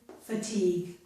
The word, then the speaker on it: fatigue: Here we do have G-U-E, but both the U and E are silent. Both the U and E are silent. This is league. It ends in a G sound.